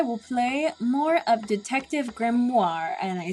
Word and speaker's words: Grimoire: today I will play more of Detective Grimoire, and I said it correctly that time.